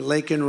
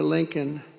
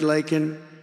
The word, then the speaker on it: Laken: And then he pronounced her name wrong. Remember, he called her Lincoln.